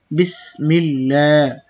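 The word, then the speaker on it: بسم الله: এক আলিফ টান হবে খারা জবর থাকলে মিল্লা বিসমিল্লাহ হা জের হির র হা জবর রহ তাশদিদের একই হুকুম দুইবার উচ্চারণ হবে হিরহ মিম খেলা জবর মা নুন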